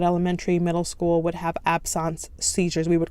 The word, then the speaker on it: absence: Absence seizures. I thought it was absence, but doctors would tell me that it's pronounced absence.